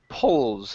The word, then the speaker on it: pulls: then also the word pulls instead of poo PS with an O it's uh P pulls so uh don't move your lips together keep them keep them separated so this is pulls the stick with all